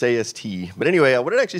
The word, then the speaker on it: AST: And yeah, some people actually pronounced it AST. I used to get phone calls, people say, is this AST computer? No, it's AST.